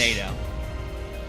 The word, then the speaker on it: Naganadel: It's Naganadel. Okay. Always favor whichever pronunciates more words.